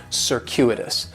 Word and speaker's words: circuitous: of an S sound circuitous the stress is going to be on that second syllable and that Cu is